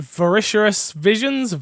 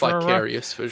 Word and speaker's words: Vicarious Visions: Is it Voracious Visions? Vicarious Visions. Thank you.